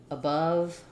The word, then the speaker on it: above: relaxed on these sounds i like words like above as an example because we start with that short unstressed schwa and then our stress happens on the stressed o of above but i can think about it just sounding like uh above same vowel in both it's just that the